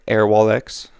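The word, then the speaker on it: Airwallex: this last one is air wallx I think I'm saying that right air wallx is how they pronounce it so this is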